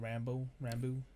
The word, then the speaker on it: Rambeau: The Monica Rambeau.